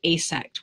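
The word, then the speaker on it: AASECT: I encourage you go to an organization called a sect which is spelled AAA ect org that's where you can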